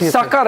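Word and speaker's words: Sukkur: Sucker airport. Yes. Uh the pronunciation is sucker.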